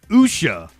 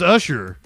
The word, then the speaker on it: Usha: Usha. I've been saying it like Ludicrous says Usher Katie Vance the vice